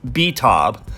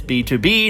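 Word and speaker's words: BTOB: believe it or not some people have come out and said they thought it was spelled out letter by letter b t OB while others thought it was B table but in fact it's B to be standing for born to beat please stand them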